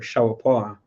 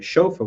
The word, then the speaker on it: shofar: This would be in the ancient Hebrew a shawapar, or you'll hear the Jewish people call it a shofar, where they add the vowels, but shawapar in the ancient pronunciation, which is the word for a ram's horn.